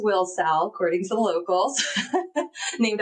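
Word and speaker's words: Wilsall: So, and just for the record, everyone should know it's pronounced Wilsowl according to the locals. Named after Willie and William and Sally is what I've been told. So, everyone says it Willsaw, which we were saying it wrong.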